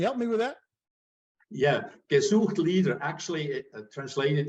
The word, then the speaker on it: gesucht: Yeah, gesucht Leader.